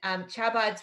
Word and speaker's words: Chabad: Just, Jean Marie, it's Chabad, like the phlegm in your throat, like with Rakhel, but more you know, we're learning.